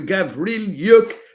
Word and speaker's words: Gavrylyuk: So I'm telling you, Lara Auerbach, Icarus, Vasily Petrenko, and Alexander, let me get his name right for you, Gavrylyuk, so I pronounce it right.